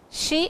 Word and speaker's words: shi: It is she as in the English S-H-E, she, but over here the pronunciation is S-H-E, she. Over here it is the spelling or the syllable is S-H-I.